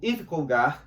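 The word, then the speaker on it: Yves Congar: Nós indicaríamos o Iv Conar, se escreve Ives Conar, francês, teólogo dominicano, padre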